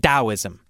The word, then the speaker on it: Taoism: Anyway, it's pronounced Taoism.